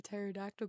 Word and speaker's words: pterodactyl: Why can't you hear a pterodactyl going to the bathroom? I don't know why. Because the P is silent.